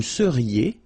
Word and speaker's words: seriez: Vous seriez. So here when you've got this Z at the end, then you get the sound E.